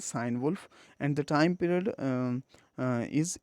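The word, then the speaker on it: Cynewulf: is sign wolf are some people pronounce it guinea wolf but the common and the prevalent pronunciation is sign wolf and the time period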